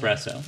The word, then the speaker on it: espresso: So there's no X in it. Espresso.